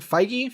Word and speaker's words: Feige: is in fight genes I say his name Kevin Feige Phi G who's Marvel Studios president